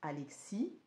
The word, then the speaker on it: Alexis: donc pas Alex mais Alexis donc ça s'écrit avec un S hein mais bon bah là-bas il prononce le S normalement le S ne se prononce pas mais voilà donc donc